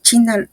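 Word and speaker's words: qi: que la medicina tradicional china los meridianos son canales a través de los cuales fluye la energía vital conocida por la tradición china como K aunque ya me aclararon que se pronuncia chi estos meridianos conectan los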